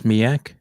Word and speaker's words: SMEAC: Now, this acronym, am I pronouncing it correct? It's SMEAC?